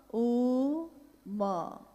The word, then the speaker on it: ओम: ध्वनि की आवाज थी अ ओ म अगर एक साथ सुना जाए उसको तो उसकी आवाज गूंजती हुई ऐसी है जैसे हम बोलते हैं या उच्चारण करते हैं तो हम कहते हैं ओम है वोह अ उ